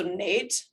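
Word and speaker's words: Neith: thinking about the goddess neath from libya who was also later an egyptian goddess um i'm sorry she's correcting me in my head so nate she wants her name to be pronounced as nate um so nate she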